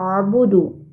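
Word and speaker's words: أَعْبُدُ: ayat yang kedua ini pada kata abudu di sini terdapat huruf Ain sukun maka pengucapannya berbeda dengan huruf hamzah ya a a a a a nah ini Hamzah dulu A baru ada Ain sukun abudu a'budu kita coba ulangi lagi di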